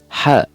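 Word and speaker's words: ح: Ha. Ha. Sounds hard to pronounce? Just imagine that you're eating something hot or spicy.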